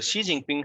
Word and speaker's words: Xi Jinping: Okay, what you can see here, the Xi Jinping had made the changes in the constitution, in the Chinese constitution, which would allow him to continue as president of China indefinitely.